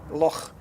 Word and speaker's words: Loch: I would pronounce it the same way with that ch sound. Loch.